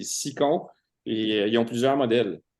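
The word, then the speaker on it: Scicon: Il y en a qui prononcent Skicon, là, mais c'est Sicon.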